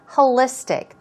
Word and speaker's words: holistic: something moving on to holistic here we go stress goes right there holistic now when it comes